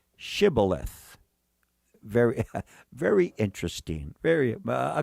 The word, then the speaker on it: shibboleth: what it is but they could not pronounce the word shibboleth all they could say is sybileth when he said sybileth